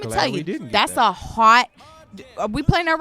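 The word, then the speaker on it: haute: And let me tell you, that's a hot... Are we playing that right now? That's a hot ass track, first of all.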